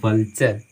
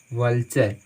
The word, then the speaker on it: vulture: में TURE रहता है, TURE रहता है, तो इसका उच्चारण आप चर कीजिएगा। क्या कीजिएगा, चर, ठीक है। कैसे, जैसे मान लीजिए VULTURE, यहाँ पे इसको हम पढ़ते हैं वल्चर, वल्चर, वल्चर का मतलब होता